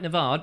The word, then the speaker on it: Nevard: Chris Nevard, I think it's Nevard. No, I always get your name wrong, don't I? Chris, Nevard, he's hard. That's right, Nevard, there we are.